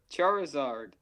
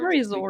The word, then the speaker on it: Charizard: Charizard. Charizard? Yeah, you against the Charizard, Charizard. because it's char, as in charcoal, as in whatever, fire, and lizard.